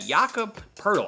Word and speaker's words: Jakob Pertl: Jakob Pertl.